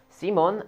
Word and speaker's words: Simon: is so we have C Mon and that's how they pronounce it in the anime C Mon I don't know why it's not just Simon but yes there you see